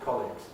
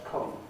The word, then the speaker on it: colleagues: they're not my colleagues it's not stressed on the league but it's stressed on the cold without any weakening they're not colleagues they're colleagues criminal names like sulfate there